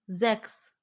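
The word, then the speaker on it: sechs: उसको प्रोनाउंसिएट करें तो सी एच एस की साउंड जो है वो एक्स होगी। जैक्स, जैक्स। छे को हम कहते हैं जैक्स। नेक्स्ट वन है फुक्स। एक्स की साउंड हमने निकालनी है फुक्स, लोमड़ी।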